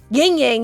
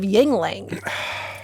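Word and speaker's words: Yuengling: My mom says ying ying instead of yingling.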